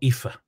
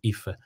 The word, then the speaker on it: Aoife: got a friend called IFA and then aoife is the spelling of her name so Ife so that's a good